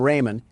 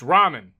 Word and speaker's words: ramen: Door Dash is on its way to deliver some Raymond, and I don't want to spill any around the pyramid floors. Uh, it's pronounced ramen.